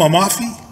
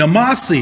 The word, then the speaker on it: Amasi: you that guy from Amalfi?" And some people often get the word Amasi mispronunciated. And they did that day. They said, "Are you that guy from Amalfi?" And I said, "You mean Amasi?"